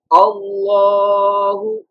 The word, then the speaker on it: Allahu: The Lam should pronounce thick tone just in Allah's name.